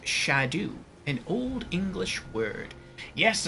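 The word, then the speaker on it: Scadu: one Jan says yes track them also it's pronounced shadu and Old English word yes I've heard that and I don't care I enjoy saying skido I'm going to continue saying sko you had both it picks up both at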